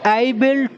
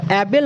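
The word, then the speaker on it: able: কি করব will বি এবেল টু উচ্চারণটা কিন্তু এবেল নয় এবল এবল এবল ঠিক এইরকম এই মানে হচ্ছে সক্ষম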